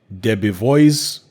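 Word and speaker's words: Debevoise: Saudi Arabia powerhouse firm Debbie voice is how you pronounce it Debbie boys and plimpton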